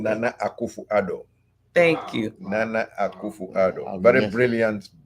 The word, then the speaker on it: Nana Akufo-Addo: Because I never pronounce it correctly. Nana Akufo-Addo.